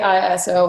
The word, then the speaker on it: ISO: So next portion, the ISO, or some people say ISO. I think the proper way to say it is ISO, like EYESO.